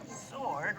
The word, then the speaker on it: sword: Sword rhymes with stored.